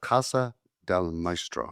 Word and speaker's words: Casa del Maestro: Let's talk about Casa del Maestro.